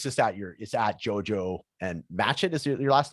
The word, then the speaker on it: Matchett: I believe it's just at Jojo and MATCHETT is your last name. Is that how you pronounce it?